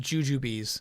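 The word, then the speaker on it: Jujubes: Obviously, Kyle, the B implies they're pronounced juju bees.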